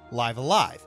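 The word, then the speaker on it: Live A Live: of the genre namely live alive yes that's how it's actually pronounced it's sold poorly upon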